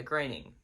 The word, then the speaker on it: Groening: Yeah, Groening. I believe that's how you pronounce her name, because it's spelled the same way as like Matt Groening, who created The Simpsons. So I don't know if there's any relation, but I'm going to assume that that's the way, and actually that's the